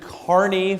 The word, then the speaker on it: Kearney: time in Nebraska and I'm going to pronounce it Carney from here on I'm not going to say Kierney to anybody else um I admit that